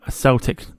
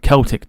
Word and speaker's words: Celtic: The artist was Timothy O'Neill, and it's an anglicised Irish for dove, a Celtic or Celtic design, depending on how you say it, designed to evoke the memory of Saint Columba.